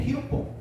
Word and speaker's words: 히로뽕: 히로뽕. 들어보셨죠? 안 들어보셨어요? 안 들어본척 하지 마시고. 히로뽕. 히로뽕 들어보셨죠?이 이 히로뽕이란 말이 일본 단어잖아요. 일본 말. 원래는 필로폰이죠. 필로폰이라고 하는 마약 종류인데 이걸 일본 발음으로 하면 히로뽕이에요.